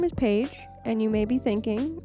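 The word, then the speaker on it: Phaige: correcting my grammar but my family has always pronounced my middle name as paig without the pH so so whenever I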